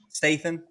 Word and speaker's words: Statham: Statham.